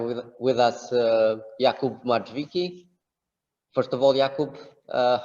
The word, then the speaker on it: Marchwicki: that's tricky part because the real pronunciation is marquiski with a very strong r as we do in polish all right but how